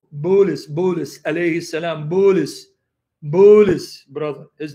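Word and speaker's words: بولس: how many of you guys like my Arabic pronunciation of Paul's name and my Arabic imitation opposed nay Buddhist Buddhist because Paul and Arabic is Buddhist bul u.s.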